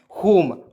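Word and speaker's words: home: चलिए यहाँ पर देखिए एच ओ एम ई क्या पढ़ेंगे दोस्तों, एच से ह, ओ से ओ की मात्रा, एम से म, और ई इसमें साइलेंट करते हैं, तो क्या हो जाए दोस्तों, होम।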